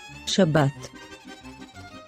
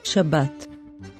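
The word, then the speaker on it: שבת: sign is called kamats so we say shabbat shabbat now let's see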